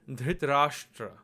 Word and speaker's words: Dhritarashtra: Now we're going to write the name Dhritarashtra. So again, we're going to break this down by syllable, and if you listen carefully, you'll see that there are 4 syllables. Dhr, Ta, Ra, and Shtra.